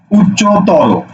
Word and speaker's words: উচ্চতর: আমি একটা শব্দ লিখি লিখছি দেখো উচ্চ তর উচ্চতর এই শব্দটার উচ্চারণ কি হবে তোমরা একটু লিখে ফেলো তো